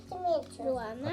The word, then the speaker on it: ruoná: First you say Luana.